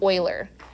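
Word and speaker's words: Euler: e his name is Oiler so if you're Googling stuff online and you run across something called Oilers number that's the same thing and yes that is pronounced Oiler weird I know okay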